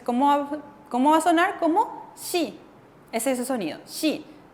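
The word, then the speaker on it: 씨: Como shi. Ese es su sonido, shi. Entonces, siempre que la S, ya sea esta S fuerte o la S más suave, si juntamos con la I, suena como shi.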